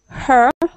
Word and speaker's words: her: is perfect next one her her good sometimes i hear her like like a uh h-a-r so just be careful with that one okay okay her radio